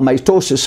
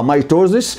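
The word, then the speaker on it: mitosis: اهي الزيجوت بتنقسم بالميتو وانا بنطق ميتوس ما بقولش عليها ميتوزي لان لان معظم الناس بينطقها ميتوزي وبيكتب انقسام ميتوزي بالعربي هي المفروض تبقى انقسام ميتوس ميتوزي وتبقى النطق بتاعها ميتوس ف اللي هو الانقسام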